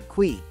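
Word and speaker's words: cuy: you'll need to ask for Qui which is pronounced Qui it can be prepared in any number of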